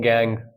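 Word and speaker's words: gangue: गैंग क्या होता है कुछ लोग गैंग यू भी बोल देते हैं इसे ठीक है तो गैंग होता है आपका यूई होगी स्पेलिंग देख लेना जी यूई तो गैंग होती है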